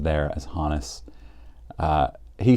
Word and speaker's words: Honus: also known as Honis Wagner and most people pronounce it Honus I have been assured that it was hanis Wagner in fact if you go to baseball reference I think it is pronounced there as hanis uh he says that that Wagner is worth